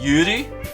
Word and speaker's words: yuri: you think you said it's actually pronounced julie like yuri yuri like y u like l r combination like so you japanese has the same kind of pronunciation as korean when it comes to l's and r's where it's like a mix between an l and r so like yuri